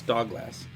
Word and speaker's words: Dogglass: Prototwi would give me trouble if I didn't pronounce his proper name as Dogglass.